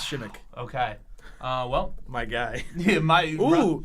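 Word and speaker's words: Przemek: It's spelled Persimek, but it's Shimmick.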